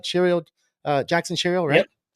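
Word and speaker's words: Chourio: And the first one we're seeing here is Shirio. Did I say it right? Shirio, Jackson Shirio, Yep, right?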